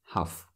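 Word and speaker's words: хафт: seven huffed huffed huffed but usually when we say that we don't pronounce t at the end half like that she studied seven foreign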